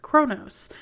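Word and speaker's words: Qo'noS: universe with the klingons their home planet of kronos is pronounced like kronos which is a name of one of the greek titans despite sounding the same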